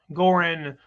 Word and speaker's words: Goran: I don't know how to pronounce how to speak. Okay, Goran. Is that what the G? Yes. Goran.